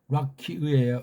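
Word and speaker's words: רקיע: 게 이게 바로 이게 락키의예요. 락키의. 락키아가 아니에요. 락키의라고 읽으셔야 된다고요. 우리는 아자 발음, 이 기름칠이 필요 없기 때문에 의가 아니고 그냥 락키의 그러면 돼요.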